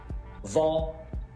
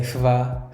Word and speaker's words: hva: And with all these question words starting with HV, we don't pronounce the H. We write it, but we don't say it. So we say hvor, hva, hvem, hvorfor, når, hvor gammel, hvordan.